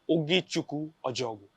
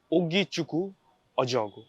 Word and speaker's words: Ogechukwu Ojeogu: I get that a lot, Ki, but it's an African name, so it's pronounced as Ogechkwu Oejogu. Ogechukwu Oejogu.